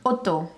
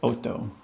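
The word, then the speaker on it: otto: Point number eight oo how do you say eight in Italian Oto Oto yeah like a drive my auto down the auto I think it's kind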